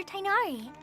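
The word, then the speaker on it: Tighnari: Oh, this is my master, Forest Watcher Tainari. He's chief officer over all the Tainari. rangers here in I was Gandharvaville.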